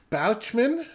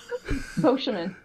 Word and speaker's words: Beauchemin: indeed everybody this has been the Reverend Christina bouman bman God lord I messed that up how do you say your last name bman bman I've known you for like 10 years